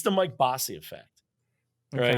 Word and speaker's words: Mike Bossy: I assume I am, but it's the Mike Bossy effect, Okay. right? Well, you So, you pronounced Mike Bossy correctly, yes.